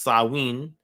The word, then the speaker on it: Samhain: um in modern times samhain a gaelic word pronounced sawin is usually celebrated from